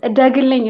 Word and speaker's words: Edegilign: Okay, so it's Rahel, or you already are saying it right, but Edegilign is like Edegilign, Edegilign Edegilign.